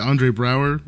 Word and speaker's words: Andre Braugher: But, is it Andre Braugher? Is that how you pronounce it?